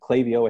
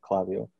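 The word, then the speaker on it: Klaviyo: so yeah so okay klavio i think is how it's pronounced sometimes people pronounce it claudio uh clavio is expensive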